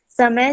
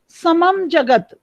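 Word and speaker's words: समं: okay, हाँ फिर बोलो, समय जगत फिर आप समय समय पढ़ रहे हो, मैं लगातार आपको बता रही हूँ, अनुस्वार लगा हुआ है, उसका म उच्चारण होता है समम जगत, समम जगत रस भारिता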